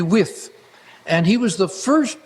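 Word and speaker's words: Wythe: was Professor George wi it's spelled w t he and most people say wife but it's actually with and he was the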